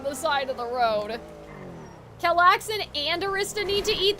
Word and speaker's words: Calxiyn: How I just said it. Kellaxin, like Chillaxin.